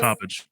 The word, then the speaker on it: Coppedge: How do you So spell it's Coppedge? yeah, so it's Coppedge. So it's like cop and then edge.